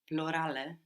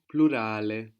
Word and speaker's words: plurale: And the U is like U. Plurale. Plurale. Good.